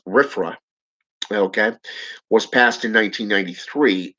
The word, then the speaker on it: RFRA: restoration act which is commonly known as rfra and pronounced as riffra okay was passed in